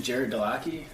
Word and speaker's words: Gerrit Delaquis: so I don't want to, my name is Gerrit Delaquis.